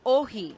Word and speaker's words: Όχι: OXI is pronounced ohi, and it means no. NAI is pronounced ne, and it means yes. Ναι στο ευρώ. Ads for both sides fill the airwaves. Όχι.